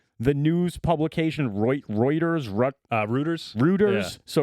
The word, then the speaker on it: Reuters: But how do you say the the the news publication Reuters uh Ruters Ruters? So Ruters publishes this mistakenly, right?